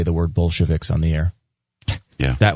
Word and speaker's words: Bolshevik: I believe it's actually Bolshevik. Yeah, you mispronounced it a little bit at the beginning, but you caught yourself.